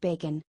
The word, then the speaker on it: Bacon: It's actually Mr. Bacon, pronounced Bacon.